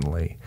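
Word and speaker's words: Leigh: name i'm pretty sure is anne lee that spelled like l-e-i-g-h she died of tuberculosis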